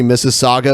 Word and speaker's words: Mississauga: say it oh cool it's almost like Mississippi so it's M is s is s a UGA instead of M is s is s IPP I yeah interesting yeah man